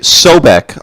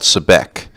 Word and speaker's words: Sobek: It's Sobek, also called Sebek.